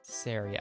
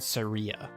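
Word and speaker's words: Saria: with the green hair sorry sarah i always had surya when i was growing up and some people say sorry yeah and yeah but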